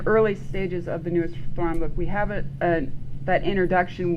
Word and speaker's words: Thrawn: Thrawn rhymes with Zahn.